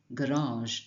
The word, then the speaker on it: garage: It's like a soft version of the Z sound.